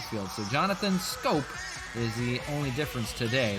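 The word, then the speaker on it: Schoop: base Willie Castro the DH Jonathan scope is pronounced scope is playing second base Jer candelerio at third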